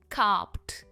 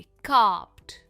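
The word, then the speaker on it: carped: कार्प्ड इसका पास्ट और past participle form है, और इसके एंड में हम एड नहीं कहते, इसकी प्रोनाउंसिएशन होती है कार्प्ड। पी में एंड होता है ये, कार्प्ड।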